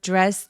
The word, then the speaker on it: dress: I order the dress online. 자, 드레스 발음할 때 D하고 R하고 같이 했을 때 드레스보다는 주로 입술을 쭉 내밀어서 발음해서 dress dress라고 해 주세요.